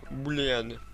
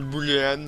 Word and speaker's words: booléen: Donc BOO, voilà, booléen. Alors, je sais que c'est le mot, ça se prononce booléen, mais moi, je l'appelle booléan.